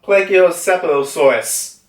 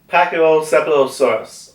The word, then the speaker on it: Pachycephalosaurus: It's the I still don't know if I'm saying this right. The Plagiocephalosaurus. I think I said it more wrong. Pachycephalosaurus. I think I said it right this time.